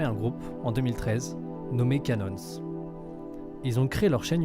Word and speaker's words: Cannons: On va parler de Canons, ou Canon, je sais pas trop comment le prononcer, il me semble qu'à l'américain, vraiment à la manière américaine, on dit Canons avec le S, mais en tout cas